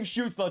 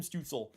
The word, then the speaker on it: Stützle: But it's Tim Stützle, dang it, not Tim Stützle. Though Tim Stützle as a German forward would be just really funny. Like if his name was actually pronounced that way.